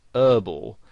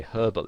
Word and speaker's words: herbal: Now, in American English, the word herbal has the H silent, so they pronounce it herbal.